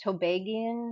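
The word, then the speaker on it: Tobagonian: educated so with you do they say that tobagian how do you say like it's a begonian to begonian yes the begonians so with that culture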